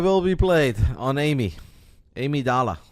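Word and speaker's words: Amygdala: Amy Dala. The G is silent. You guys don't know this, but I do. Amy Dala And the G is silent.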